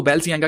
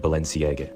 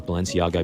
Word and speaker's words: Balenciaga: लोग इसको बैलसियांगा कहते हैं, कोई बालशियांगा करके बोलते हैं, लेकिन उसने इसकी सही जो प्रोनाउंसिएशन है वो बताई है कि कैसे इसको बोलना है।